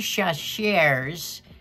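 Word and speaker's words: Chachere's: maker of this is Tony shaser now that's probably pronounced strong but I'll spell it his last name is c h a c h e r e apostrophe s so it's Tony chaser's original Creole seasoning and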